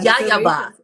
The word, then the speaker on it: YAYABA: I don't know how you pronounce that. Yayaba.